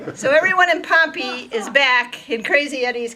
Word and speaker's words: Pompeii: it says pompeii but since we're in the midwest that is pronounced pompey so everyone in pompey is back in crazy